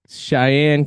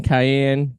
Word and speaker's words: Cayenne: don't mind that uh Cheyenne Cayenne Cayenne I think it's I think I was pronouncing it wrong Cheyenne's the name of the girl Cayenne is the name of the name of the Peppa this little b right